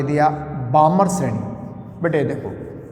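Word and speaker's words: Balmer: है ये देखो मैं बामर शरी की बात कर रहा हूं यस बी ए एल एमई आर L silent है बामर सीरीज तो आपने कहा सर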